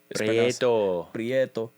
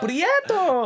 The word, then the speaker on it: Prieto: All the Puerto Ricanos know how to say Prieto. Prieto. You can't say it like Super Mario-esque. Like Prieto. I kind of said that, didn't I? So you gotta say it very like either from the island or on some chill shit.